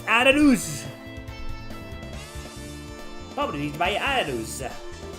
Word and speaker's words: Atlus: It's Atlus! Atlus! That's the correct pronunciation. It's a Japanese company, so Atlus. It's Atlus.